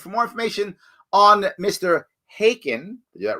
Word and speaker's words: Khaykin: Khaykin. It's a silent K in the beginning of my last name. I was testing you. You got it right. Well done. Yes, Khaykin.